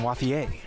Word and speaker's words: Wathier: Is it Wathier? Is it the American version, or should we say it French style? I think you stick with the French pronunciation, Wathier.